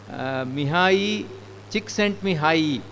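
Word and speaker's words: Csikszentmihalyi: this book called flow pronounce Mi chick sent me high is his name he's a very very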